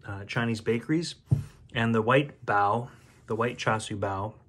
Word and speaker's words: bao: And in Mandarin, I guess it's baozi instead of bao, and pronounce the word differently, but the Americanized pronunciation is usually bao. And in Canada, that's what we usually say too, is bao.